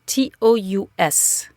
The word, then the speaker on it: tous: So, tout with an S can be pronounced two very different ways. It can be pronounced tout, and the S is silent, or it can be pronounced tous, and the S is pronounced.